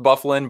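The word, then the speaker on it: Byfuglien: The fact that Bufflin is pronounced, or that Dustin Bufflin's name is pronounced Bufflin, bothers me more than it should.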